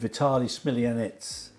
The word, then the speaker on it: Vitaly Smilianets: so the once upon a time stage with Vitaly Smilianets. Hello, nice to Did meet I you.